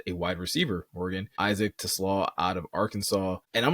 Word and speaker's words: TeSlaa: So to give a little more context, TeSlaa, that's how you say it, not the car way.